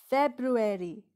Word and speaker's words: February: It's February. February is the shortest month of the year.